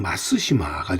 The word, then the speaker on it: 松島: 원래 이 송도라고 하는 명칭은 일본식 발음으로는 마쓰시마가 되겠고요.